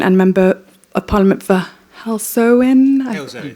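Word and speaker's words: Halesowen: Alex is a Labour party politician and member of parliament for Helsen. Hellzoen. Not Helzo. Okay, I always pronounce this wrong, Alex.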